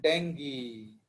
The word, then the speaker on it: dengue: Chikungunya and डेंगी। This is pronounced as dengue, not dengue. ये गलत pronounce करते हैं लोग, यू कैन सी द नेट, इसका प्रोनाउंसिएशन है डेंगी, डेंगी।